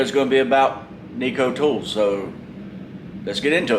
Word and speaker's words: Neiko: I don't think it's pronounced Neiko. It's Neiko.